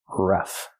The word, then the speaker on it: rough: Use the short uh like cup and up. R-ruff plus the f sound f like flowers. Ruff.